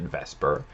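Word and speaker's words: VSEPR: vesper or technically it's valence shell electron pair repulsion but we pronounce it vesper this theory is used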